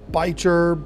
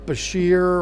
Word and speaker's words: bichir: hobby the biker now you might have heard their name pronounced bitcher bashir or even bisher but to me the coolest way to say it is biker because well bikers are cool anyway if you